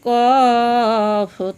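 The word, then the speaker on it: ق: গোল মাথার উপরে দুইটি ফোঁটা থাকলে তার নাম কফ, তার নাম কফ। কফ উচ্চারণ কেমন হবে? কফ জিহ্বার গোড়া থেকে মোটাভাবে আদায় হবে, নইলে কাফ অক্ষর আদায় হয়ে পড়া হারাম হয়ে যাবে।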